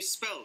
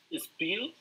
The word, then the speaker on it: spell: Can you spell that? M. What is the correct word here? Spill. Spell, no es spill, porque spill es derramar. Spell. La E aquí suena E.